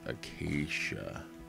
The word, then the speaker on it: acacia: how to pronounce that i think it's acacia because where i grew up back home there was a place called acacia park and it was the